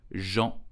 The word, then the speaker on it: Jean: all over the world so how do you pronounce his name correctly in french you will say jean did you know that a dew jardin garnered